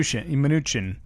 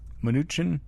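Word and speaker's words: Mnuchin: to pronounce that name Min minuchin minuchin no that's the mooch m n u c h i n is the man's name sure oh I'm getting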